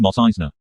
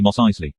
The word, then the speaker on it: Mos Eisley: eisley the pony asked you mean mos eisner it's actually mos eisley raccoon got the name